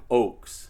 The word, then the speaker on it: Ochs: roll with that and it is pronounced oaks yeah unless you want to say it with a German accent oh they're cold out